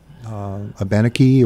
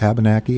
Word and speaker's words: Abenaki: for Native American Indians, Abenaki or Abenaki, however you want to pronounce it.